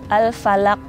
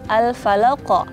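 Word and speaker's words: الفلق: Misal al-falaq. Nah, itu nggak ada pantulannya, padahal harusnya pakai pantulan al-falaq gitu.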